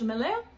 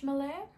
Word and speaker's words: Melert: It's spelled Melert, but I'm pretty damn confident that T is not that T is not actually pronounced. Lisse Beige Melert.